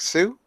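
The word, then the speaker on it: Sioux: right it's uh s It's s IO ux s IO uxx Sue yeah it is Sue okay Sue anyway so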